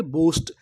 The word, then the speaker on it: boast: BOAST, इसे पढ़ेंगे बोस्ट। यहाँ पर जो ए है वो हमारा साइलेंट रहेगा, हमें ए का उच्चारण नहीं करना, तो पूरी मीनिंग क्या बनी, बोस्ट।